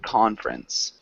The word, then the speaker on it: conference: it sounds more like conference tricky word because we kind of um we don't pronounce the E the first e so just sounds like